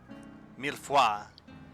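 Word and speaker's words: mille-feuille: How do you pronounce that? Millefoy.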